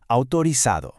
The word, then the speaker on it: autorizado: In Latin American Spanish, that z is pronounced just like an s, so it's autorizado.